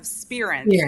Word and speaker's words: Spirance: Mala mentioned, I'm the Vice President of Spirance, is actually how it's pronounced. But don't worry, everyone gets it wrong.